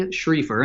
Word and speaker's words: Schriefer: financial calm which a shritha correct it's schrieffer and I'll spell that for everybody so just the letter j